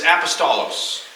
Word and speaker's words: apostolos: definition number one two the Greek word this this I sort of pronounced because it's really close to the English word is apostolos or in English we